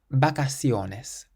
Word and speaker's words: vacaciones: And then finally we have a word that ends in the letter S. That means we stress the syllable before last. Vacaciones.